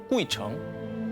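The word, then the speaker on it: 鬼城: 해도 장수한다는 전설을 가진 중국발음으로 꾸이청 한자로 보면 귀신 귀자의 도시 성자를 쓰는 그야말로 귀신들의 성 귀성입니다 이곳은요 산 전체가 저승세기라고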